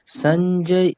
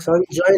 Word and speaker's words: সঞ্জয়: এভাবে অথা দ্বিতীয় অধ্যায়হ সঞ্জয় উবাচা সঞ্জয় না সঞ্জয়া সঞ্জয় উবাচ তথা